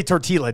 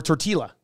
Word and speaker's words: tortilla: I believe I think it is a Spanish thing where you get the two lves together and it makes like I'm reading this in English I'm seeing soft flower tortilla tortilla actually I guess